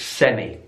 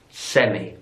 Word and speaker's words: semi: This word in British English, semi. So it could be like the semi-finals of the tennis tournament, semi. In American English, semi. Semi. So the stress is on the last syllable there.